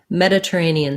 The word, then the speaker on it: Mediterranean: mediterranean sea um so when i'm saying mediterranean sea mediterranean the a syllable is stressed so it's kind of short meta ray neon a lot of syllables there mediterranean c and then c is also going to be stressed in this two-word phrase mediterranean sea the first e is the same ah sound as in red or medical med this